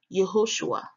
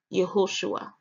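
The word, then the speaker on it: יהושע: Strong's each 3091 and pronounced there as yahushua yahushua in the consonantal text it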